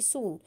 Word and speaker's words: sew: The shoe maker was tired very soon. Shoe maker बहुत जल्दी थक गया. आई am tired, I will सो them tomorrow. SEW को pronounce करते हैं सो, कि मैं बहुत थक गया हूँ, अब मैं इन्हें कल करूँगा.